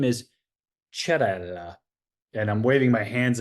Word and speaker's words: Cerella: He's like, in Italian, CE is pronounced ch, as in church. And so he's like, your name is not Cerella. Your name is Cerella.